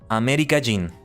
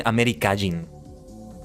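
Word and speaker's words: アメリカ人: Amerikajin. Sometimes I end up pronouncing Amerikajin. Kajin, like putting the emphasis there. It sounds like I'm saying Amerikaijin. Like Kaijin in Tokusatsu.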